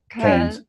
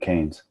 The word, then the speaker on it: Cairns: Cairns. Cairns. Well, just think you kick a can on the road, Cairns.